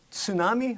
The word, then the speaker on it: tsunami: I pronounce it tsunami. I've always, actually pronounced the T.